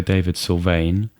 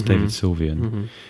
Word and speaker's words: David Sylvian: think DAV syan yes cuz I often mispronounce and say David sane that's David Sylvian and I've heard of